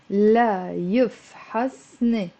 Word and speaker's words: لا يفحصن: لا يفحصن. It's 4 syllables with a liaison.